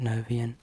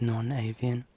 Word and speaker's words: non-avian: I realise I've pronounced it novian, and it's non-avian. I think there should be a hyphen.